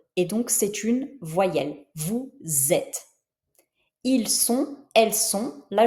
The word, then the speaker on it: vous êtes: Par contre, dans le cas de vous êtes, là je prononce le S, mais je le prononce z, vous êtes, parce que la première lettre est un e et donc c'est une voyelle, vous êtes.